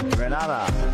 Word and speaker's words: Grenada: It's Grenada. It's not Grenada. It's Grenada.